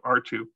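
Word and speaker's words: ℝ²: caught on but that's what it is so r2 okay so we want to think about what the actual function is going on here and we know that r2 here on the left this is actually a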